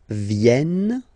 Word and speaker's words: viennent: So you've got this double N just after the E, so it will change a little bit your pronunciation. You will have to pronounce this E like eh. Okay. Ils viennent.